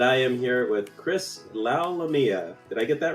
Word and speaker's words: Lalomia: am here with chris lau lamia did i get that right nailed it man nailed it all right and you were telling me at rhymes with mamma mia that's right yep as